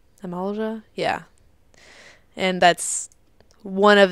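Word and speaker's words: Amalj'aa: The enemy that'll be showing up on the screen very soon, it's pronounced Almaja. Amalja?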